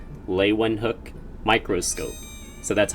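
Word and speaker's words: Leeuwenhoek: improving the microscope so the name lewin hook and microscope are both three syllable words leywen hook microscope so that's how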